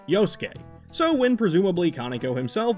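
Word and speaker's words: Yosuke: Another common thing is that in many Japanese words, the U kind of becomes a silent letter, ranging in ways like how we just say des instead of desu or how we don't call this character Yosuk, but simply Yoske.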